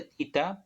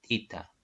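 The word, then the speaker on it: theta: Si tita, ya se dice tita, pero ya muchos lo pronuncian como teta, ¿no? Teta lo dicen ya y bueno, se acostumbraron a decir teta. Pero en sí es tita, ¿ya?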